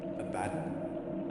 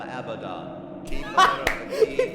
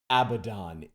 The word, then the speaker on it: Abaddon: into them are you a baton i am abaddon he corrected his pronunciation are you a badden i am abaddon idiot how do you know